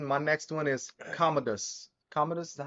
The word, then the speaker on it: Commodus: you had gotten my next one is Commodus Commodus is how you say it waim Phoenix on